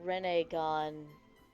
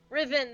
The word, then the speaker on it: Riven: that grants the wish riven that's it i don't know why i thought riv a gun riven that's it read note this